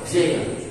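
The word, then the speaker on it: giant: جيانت عملاق، حرف الجي هنا بتنطق دي جي با، جيانت بتنطق دي جيانت.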